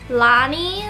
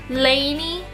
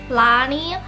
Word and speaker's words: Lani: My name is pronounced Lonnie. Like, oh my goodness, you don't even know how many times people have pronounced my name wrong. Lanie, like they always say Lanie all the time, but it's Lonnie.